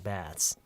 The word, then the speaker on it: baths: 배츠는 아니에요. 완전 틀렸어요. 배츠 여기서 치읓 발음이 나서는 안 돼요. 치읓 발음 안 나요.